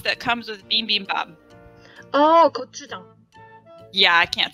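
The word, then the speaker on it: 고추장: Oh, gochujang. Yeah, I can't say that. How do you say that again? Gochujang. Gochujang. Gochujang. Like it starts with J.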